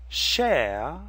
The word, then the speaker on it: Chère: Bhushan she'll share share notice the e sound in shell and the phonetic symbol which is like the Greek letter epsilon in the word ooh Jen you also see the same sound except there's an accent on the E this sound found in